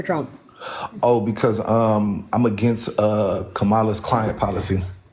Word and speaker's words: Kamala: Oh, because I'm against Kamala's climate policy. It's Kamala. Well, how do you pronounce it? I just told you how. It's Kamala.